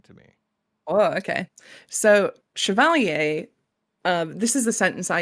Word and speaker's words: CHVLR: CHVLR, which you said is a French word that is not pronounced chivalry. No, it's chevalier.